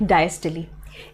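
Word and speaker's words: diastole: Cardiac cycle के बारे में बात करेंगे तो सिस्टले एंड डायस्टले, इट इज नॉट सिस्टोल एंड डायस्टोल, इट इज सिस्टले एंड डायस्टले।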